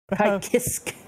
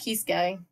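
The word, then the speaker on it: Ky Kiske: Kai Kisk. Kisk. But Fuck you, Xrd. I think it's supposed to be pronounced Kisuke. That's what everyone thought, but in Xrd it was Kai Kisk.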